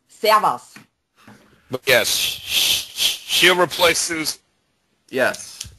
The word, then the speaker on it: Servus: It's Servus.